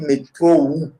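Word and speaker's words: metrou: En roumain, on dit métro ou. Donc, avec U à la fin.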